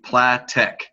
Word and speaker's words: Platek: I got Tex, John, and the former co-host Platek on the line. That's right, I pronounced it correctly, Platek.